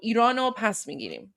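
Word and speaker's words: ایرانو پس می‌گیریم: So I wrote it phonetically for you guys. So it's Irano pas migirim. So it means we will reclaim Iran. Pas means like pas migirim was will reclaim. So Irano pas migirim. There you go. That's how it's pronounced there.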